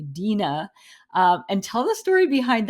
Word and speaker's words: Deana: on the podcast because I thought your name was pronounced “De-anna”, but it's actually “Dean-a”.